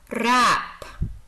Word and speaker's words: wrap: The W is silent here. Wrap, wrap.